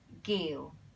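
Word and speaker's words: 叫: The second one is giu. G, a hard G, g, giu. Giu, also a mid-tone there. It sounds so similar, right? It rhymes with yiu, yiu and giu.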